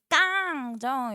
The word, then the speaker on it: 닭강정: 그러면은 비음이가 교체에 해당되고 닭강정 요거는 일단 닭에서 쌤 자음군 단순하니까 교체가 아니라 탈락 아니에요. 근데 뒤에 깡정 이렇게 되잖아.